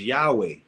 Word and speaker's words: Yahweh: The name Christians vocalize it as Jehovah, a hybrid form. Scholars render it as Yahweh, probably closest to the original sound.